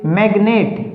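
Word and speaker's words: magnet: इसी प्रकार से मैग्नेट, मैग, MEG मैग एक सिलेबल, नेट दो सिलेबल। तो मैग्नेट में दो सिलेबल हो गए।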